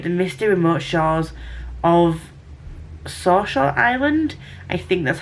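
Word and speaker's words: Saoirse: misty remote shores of Sawshore Island. I think that's how you say it. It's pronounced... I think that's how you pronounce it. It's spelled S-A-O-I-R-S-E, and I'm sure that's Sawshore.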